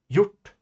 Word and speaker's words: hjort: These are all pronounced like the Swedish J.